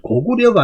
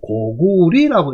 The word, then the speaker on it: 고구려: 그런데 사전에 저 뒤쪽에 가보면, 그러나, 자, 나라 이름이나 고을 이름, 지명을 나타낼 때는 리로 읽으라고 하고 있어요. 사전에서. 그러면 리라고 읽으면 고구려가 아니고 고구리라고 읽어야 될 거 아니에요. 그죠? 고구리. 그리고 구가 없고 고려면 고리라고 읽어야 되는데, 자꾸 이제 고구려 하다 보니까 고구려라고 쓰는 거예요. 그럼 사전에는 리라고 읽었는데 사람들이 안 따라가는 거예요.